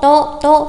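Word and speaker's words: と: cộng to to to, chúng ta có phát âm là to to, không đánh dấu sắc hẳn và nhấn nó thành tố nhá. Có rất nhiều bạn đọc sai phát âm là tố nghe rất là kinh. Chúng ta đọc bật hơi này, to to to, cảm giác vẫn là chữ to nhưng mà bật hơi một chút, to.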